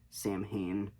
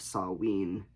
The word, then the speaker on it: Samhain: It's spelled like Samhain, but I've heard that it's supposed to be